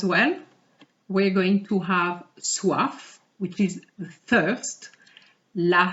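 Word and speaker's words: soif: we're going to have suaf which is the first la suave it's feminine je suaf have you noticed that i pronounce the f je suave oh i'm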